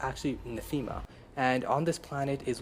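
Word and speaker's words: Nathema: the planet netha netha or NAA I've been pronouncing it wrong this whole time I've been saying nma but as someone pointed out on the Reddit forms it's actually Natha and on this planet is where visette as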